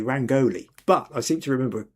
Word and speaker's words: rangoli: And Viji says, "So the peacock uh rangi is it rangali or rangoli?" I'm tempted to say rangoli, but I seem to